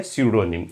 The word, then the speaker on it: pseudonym: और PS जब दोनों एक साथ होते हैं तो P प्रोनाउंस नहीं किया जाता। वर्ड है स्यूडोनिम।